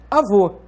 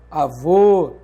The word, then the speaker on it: avô: Então, por exemplo, avó é diferente de avô. Note que esse acento está indicando que a sílaba tônica é vô e está marcando o timbre aberto da vogal O. Então, é diferente de avó, avô. Percebe?